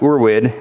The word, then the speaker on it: Urwid: curses does well differently we're witness pronounced or wid it's German for ancestral so it's basically ancestral